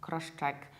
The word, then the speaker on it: cross-check: How you should pronounce it is cross-check. Cross-check. Something is cross-checked. You have cross, very selective, separate S, followed by ch.